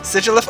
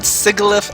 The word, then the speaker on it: Sigilyph: want to hear your Sigilyph? Sigilyph? Okay, so that's how I pronounce it as well, but I have heard Sigilyph as well, so yeah, I heard that too.